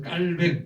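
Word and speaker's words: Calvin: 그래서 깔뱅 발음을 깔이라고 얘기를 합니다. 영어식 발음은 칼빈이지만이 칼뱅이 파리 팔대학 파리 대학은 우리나라로 치면 서울대학이지만 당신은 세계 최고의 대학이었어요.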